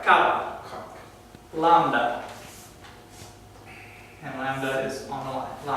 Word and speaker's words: lambda: how it's spelled, but lambda. And that's just the L, this is the L sound, just like in our language.